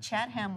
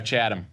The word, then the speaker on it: Chatham: I said Chatham once, and someone said, oh, Chatham. Yep.